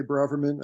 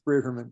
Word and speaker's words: Braverman: pronouncing it right is it how do you pronounce it for some reason New York I say Braverman I don't uh okay it's brieferman thank you well so those who know me